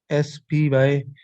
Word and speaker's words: SPI: SPI, I pronounce SPI SPY, SPY SPYI.